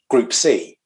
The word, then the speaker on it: Gruppe See: So what I've called it is Group C, actually. But the way that it's spelt is, and this comes from actually the 959 concept, where they use the German spelling Gruppe, Gruppe, and rather than the letter C, it's C as in SWE, because it's it's a